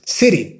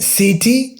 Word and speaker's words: city: City. Look, I'm not saying city, I'm saying city.